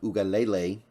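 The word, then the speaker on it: Uiagalelei: dju needs some work UGA Lele is actually how you pronounce it I guess while I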